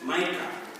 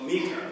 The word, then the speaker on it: Micah: Now, Judges, chapter 17, talks about a gentleman named Micah, or Micah, whichever way you want to pronounce it.